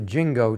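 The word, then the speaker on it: ginkgo: And uh the uh my mother always referred to it as a jingo tree. And uh I always thought that was a very strange pronunciation. Many years later, I discovered that that was the pronunciation in the 1850s.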